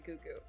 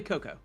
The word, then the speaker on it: Cuckoo: They want to know what happened to Cuckoo. It's actually Coco. Coco. Fuck! It's Cuckoo for Cocoa Puffs. My bad. It's spelled cuckoo, but it's pronounced Coco.